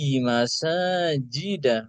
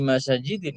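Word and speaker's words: مساجدَ: Bi masajida bukan bi masajidin, keliru cara bacanya.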